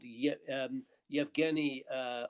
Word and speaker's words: Yevgeny: chap called yet um yevgeny uh or Eugene rather um uh yevgenius in a sort of alternative way of pronouncing that name in Ukraine uh Evgeni uh clotipenko um who